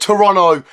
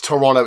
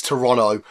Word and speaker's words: Toronto: because I've always said well I've always said Toronto because of my Southern accent but apparently that's actually the correct pronunciation it's Toronto it's not Toronto it's Toronto so there we go I Le from zti